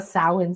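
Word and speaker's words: Samhain: So, on Friday, we're going to have a sin celebration. Sin is how you pronounce that.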